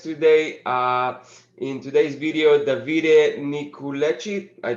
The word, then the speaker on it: Nicolucci: In today's video, Davide Nicolucci. I pronounce it well, Davide? Almost. Nicolucci.